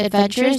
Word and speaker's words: adventurous: So instead the stress falls on the third syllable from the end. So say it out loud. Adventurous. Four syllables. Count backward from the end. O first to second third when. So that's where your voice rises.